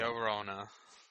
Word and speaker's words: Llorona: James, you're good at pronouncing the Mexicans and Spanish things. La Take it away. Llorona.